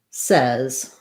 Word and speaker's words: says: The word says is actually the eh vowel. It sounds like says.